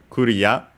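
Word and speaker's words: クリア: Yeah, first and foremost, we have Kuria, of course, from English, clear. Yeah, as usual, we have technically the R sound in English. But yeah, in Japanese it's just A, the closest vowel to it. While the rest, of course, we have Ri instead of Li, technically.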